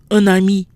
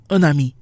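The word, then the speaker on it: un ami: and is usually nasal however when followed by a vowel or mute H we do here the in for example a friend is an ami not me we pronounce the end onami with those notes out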